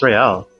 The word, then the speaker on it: Real: What's Real? Oh, excuse me. You owe me 130 real. He pronounces the R with a mock aristocratic accent.